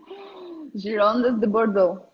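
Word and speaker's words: Girondins de Bordeaux: Gironde de Bordeaux. And that's the way you say it in French? Yeah.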